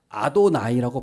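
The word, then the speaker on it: אדני: 그래서 이 발음을 안 하고 대신 뭐라고 했냐면 아도나이라고 발음했어요.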